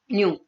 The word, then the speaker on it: nu: It is represented by the sign nu. Alright, this is nu. We pronounce it nu.